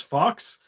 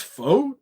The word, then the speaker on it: faux: was correcting me because I always thought this fake fur that they called it was fox. I guess it's faux, is how you pronounce it.